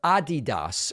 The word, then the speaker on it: Adidas: And Adidas, or Adidas, as some of our friends pronounce it, has retracted their opposition to the Black Lives Matter 3-stripe design.